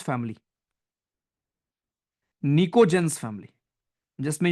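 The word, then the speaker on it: pnictogens: 15 जिसमें नाइट्रोजन है उसको बोलते हैं हम निको जनस उसकी स्पेलिंग होती है पी से शुरू निको जेंस फैमिली निको जनस फैमिली जिसमें यू विल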